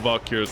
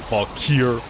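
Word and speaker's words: Valkyr: You should be able to remove Vakir's skirt. Well, my bigger concern is why does Vakir I like how I pronounce it wrong. Valkir.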